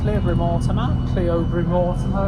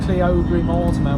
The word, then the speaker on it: Cleobury Mortimer: So we won't be long now until we get to Cleobury Mortimer as it's spelled. I can't believe it's spelled as Cleobury Mortimer when it's Cleobury Mortimer.